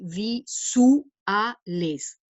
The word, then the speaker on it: visuales: dice los visuales rayos normalmente ahí habría un diptongo visuales pero la métrica exige tener una sílaba dividida entonces con la diéresis esto se le visu aes cuatro sílabas en lugar de las tres de la palabra visuales otra cuestión rítmica importante